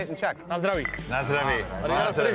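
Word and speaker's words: na zdraví: Nazdraví.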